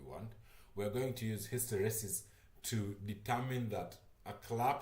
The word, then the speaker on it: hysteresis: Hysteresis. Anyways, yeah. So, after we've filtered our signal and we know we're getting the signal that we want, we're going to use hysteresis to determine that a clap has occurred and